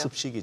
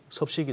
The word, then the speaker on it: 습식: 습식이 제대로 발음이 되네요. 습식. 네. 가끔씩 얘기하다 보니까 무슨 섭식이 돼가지고 이상했는데 어디까지?